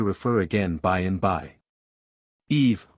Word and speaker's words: Eve: Eve, both syllables being pronounced, is the same word